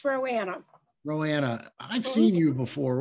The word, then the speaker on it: Roanna: I'm sure they're going to give me the hook not too soon, but Roanna, am I pronouncing that right? Roanna with HCA Healthcare. Yeah, it's Roanna.